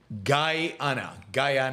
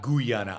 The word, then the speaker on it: Guyana: And just FYI, it is pronounced Guyana, not Guyana.